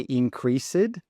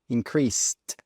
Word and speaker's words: increased: Note with the pronunciation, we don't say increased. No, when we're using increased in the past, we need to pronounce that SED as an ST. So increased with that T sound at the end.